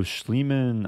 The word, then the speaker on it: Schliemann: what's it called so schliemann I think is spelled s-c-h-l -i-e-m-a-n-n it's like Neiman like Hans Neiman but replace the N with an schl so Bishop E7 96